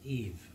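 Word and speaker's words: Yves: the writing okay so that is Eve so it's eve Lauren why you never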